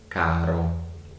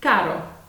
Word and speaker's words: caro: It's exactly the same as in butter.